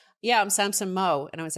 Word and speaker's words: Samson Mow: the week after with Samson Mow. I've always called him Mao, but I guess he calls himself Samson Mow. He said Samson Mow in the interview, so